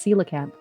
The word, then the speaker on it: coelacanth: coelacanth yes it's pronounced sila camp the reason for that being is because it's greek there's a lot of